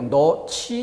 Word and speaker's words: 넣지: 그런데 실제 발음은 어떻게 돼요? 어미 지가 와서 히읗과 결합되며 거센 소리로 너치 이렇게 소리가 나는 거죠.